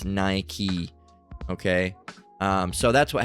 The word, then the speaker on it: Nike: Often mispronounced as Nike. All right. But it's Nike.